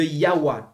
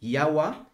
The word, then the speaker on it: Yahweh: Mais pour avoir sa prononciation, eh bien, vous prenez les voyelles de Adonai que vous intercalez en fait entre les consonnes YHWH et cela vous donne Yahweh.